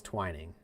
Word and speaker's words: Twining: Is it pronounced twining? Can we have multiple sources confirm if it's pronounced twining? It's lit. It literally looks like twinning.